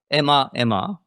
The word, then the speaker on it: Ema: So we call Ema. So it's Enterprise Machine Assistant, but it's pronounced as Ema.